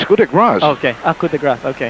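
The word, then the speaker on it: coup de grâce: Coup de grace here. Did I say that right? Coup de grace. No, it's coup de grace.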